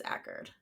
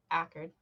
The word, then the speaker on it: Ackard: Yeah, because that's when Ackard, yes. Acard, whatever his name is. I think it's Ackard. Looking at the pronunciation guide, I think it's Ackard. Okay, Ackard.